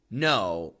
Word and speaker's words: no: that when Americans say no, N-O, especially in the middle of a sentence, in the middle of a phrase, it sounds very short. Not no, but just no, no.